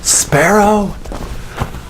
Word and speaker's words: Sparough: life did I mention my last name is pronounced sparrow I want to finish